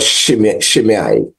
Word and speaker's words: Shimei: So in 2 Samuel 16, we pick up this account of this despicable man called Shimei. You may have your own pronunciation, but that's what I like. Shimei, right? S-H-I-M-E-I.